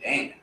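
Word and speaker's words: דם: It's like, damn. Damn. But it's pronounced Dam, right?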